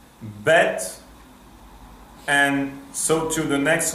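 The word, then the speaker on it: בית: You can see base or vase, that is the Ashkenazic pronunciation. Nothing against Ashkenazim, I love them, but my pronunciation is Sephardic, so I pronounce bet or vet.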